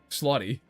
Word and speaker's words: Slotty: Slotty. Yeah, it's like slaughter, but with a Y, so it's Slotty.